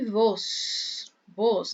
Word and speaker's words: vos: Que é o pronome vos, né? Que a V tem som de B.